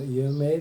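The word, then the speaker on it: 有名: Embora esteja escrito yumei, se lê só prolongando, você pronuncia só prolongando o E.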